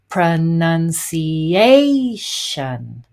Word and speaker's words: pronunciation: then we have here the secondary stress in the second syllable pronunci and then our main stress here pronunciation this is the here's